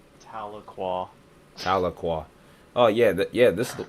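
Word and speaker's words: Tahlequah: It's the one It's that cell that's just south of Taloqua. And that's how you pronounce that. Taloqua.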